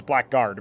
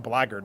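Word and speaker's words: blackguard: Most people probably look at blard and think it's black guard because that's how you would pronounce it and that's how you would write that word but it mean it's pronounced a blard which I never really understood. Um but that's that's old English for you.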